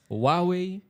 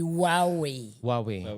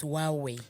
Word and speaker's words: Huawei: this pronunciation as well is it Huawei hwei no it's supposed to be hwei it's supposed to be silent it's huwei today watch now because